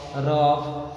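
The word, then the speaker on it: rough: हो तो vowels letters, तो जी एच का प्रोनाउंसिएशन जो होता है एफ के जैसा होता है, जैसे लाफ, टफ, रफ, कफ, समझ लगा ना।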